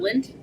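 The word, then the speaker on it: Lindt: say it it's um it's not Lind is it l-a-n-d-t hold on those are balls and they have like yummy things in the middle it's Lind yes thank you thank you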